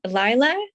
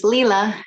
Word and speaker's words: Leela: Is it Lila? Close. It's Leela. Leela.